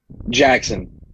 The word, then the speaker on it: Jaxon: do you pronounce it Jackson okay alright it's pretty it's pronounced just like the way it's spelled J I say it